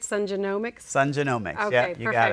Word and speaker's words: Sun Genomics: and he is the founder and CEO of sun genomics and we are going to dive into what exactly that means and how to pronounce it correctly so Sunny welcome to the